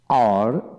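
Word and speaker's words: hour: আর অর্থাৎ যে সকল ওয়ার্ড এর ক্ষেত্রে এইচ উচ্চারণ হয় না, এইচের পরবর্তী অক্ষরে উচ্চারণ হয়ে থাকে, সেখানে এন বসে। যেমন অনেস্ট, অনেস্ট, আওয়ার, আওয়ার, যেমন ও ইয়ার, আওয়ার, অনারেবল, অনারেবল, ইয়ার,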